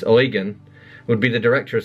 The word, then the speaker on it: Eugen: It has always seemed strange to me that a man named Eugen," she pronounces this Eugen, "would be the director of such an institute.